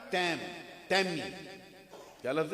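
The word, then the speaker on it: تيم: जो समझते हैं लोग, ये तैमी, ता या मीम। और एक बड़े मैंने खतीब को सुना है जिनकी खताबत के बहुत चर्चे रहे, वो पढ़ते तय्यम, तो ये इसका तलफ़्फ़ुज़ है ना, प्रोनाउंसिएशन इसका ये दुरुस्त नहीं। ये या जो है ना, ये मुशद्दद इस मकाम पे नहीं, 2 या नहीं, ये सुकून है।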